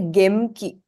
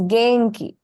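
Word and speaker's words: げんき: So in this word, the second sound in is pronounced as in, the na sound. Okay. You won't say gemki, not required. That is a little bit more difficult to pronounce. So it's genki.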